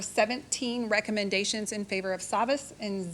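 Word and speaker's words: Savvas: Savas, Okay, sorry.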